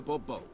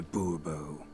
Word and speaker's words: Bourbon: or better yet as monsieur de bobo monsieur de bourbon the emphasis falls on the last syllable see now i'd rather